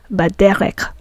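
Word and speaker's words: בדרך: Baderek, by the path. And when the prefix bet means by, we also pronounce it as ba.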